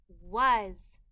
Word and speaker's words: was: look was w a was the a in this word is making a short u sound and the s in this word is making a z sound was with I with